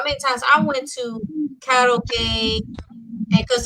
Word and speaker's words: karaoke: tell you how many times I went to karaoke, and because it's actually Japanese, it's pronounced karaoke instead of karaoke, but it's okay.